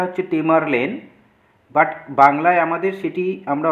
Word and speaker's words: Tamerlane: ছিল টেমারলেন যার নাম ছিল টেমারলেন একচুয়ালি ইংলিশে উচ্চারণটা হচ্ছে টেমারলেন বাট বাংলায় আমাদের সেটি আমরা অলরেডি পড়েছি হিস্ট্রিতে